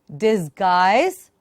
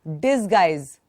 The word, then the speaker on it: disguise: A blessing in disguise or despite? A blessing in disguise or despite? What? It can be a blessing in disguise. But please don't say disguise. Dis. Softer d. Disguise.